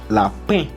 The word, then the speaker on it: lapin: La IN pronuncia como E. Por eso aquí es lapin.